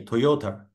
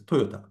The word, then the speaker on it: Toyota: PR pronunciation is different probably you say Toyota but the real pronunciation here is Toyota so the pron pronunciation